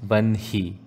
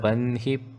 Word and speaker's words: वह्नि: वह्निप्राकार मध्यगा मध्यगा Note, although the spelling is given as Vahni, the pronunciation is Vanhi. Kiri Chakra Ratharudha Danda Natha Puraskrita Jvala Malini Kakshipta Vanhi Prakara Madhyaga